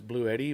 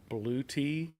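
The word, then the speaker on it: Bluetti: Daddy's Workshop channel uh I pronounced it as blue Eddie but apparently it's blue te I think is what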